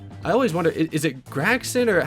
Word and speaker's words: Gragson: My interview with Xfinity Series points leader, Noah Gragson.